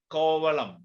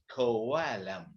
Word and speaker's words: Kovalam: unlike malayalam for example if you say kovalem we say kovalem is a is an important tourist destinations one of the tourist destinations in kerala when you a foreigner say kovalam he won't or she won't say kobalam he will say kawalam why because she goes